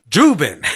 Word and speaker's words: Dubin: We also got Chuck Dubin.